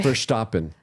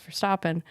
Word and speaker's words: Verstappen: Verstappen. Sorry. How dare you? Sorry. With an orange shirt on, At least I don't say it like the British people. What do they say? Verstappen.